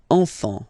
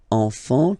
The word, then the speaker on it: enfant: Don't pronounce the T. You don't pronounce the S.